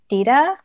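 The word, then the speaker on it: Deida: superior man by david i think he pronounces his name dida d-e-i-d-a and this is a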